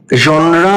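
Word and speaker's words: genre: এখানে কি বলেছি দেখো, science fiction is এ জনরা, জনরা বা জ এটা উচ্চারণ, এটার মানে হচ্ছে কোন একটা বিশেষ ক্ষেত্র, একটা ধরন।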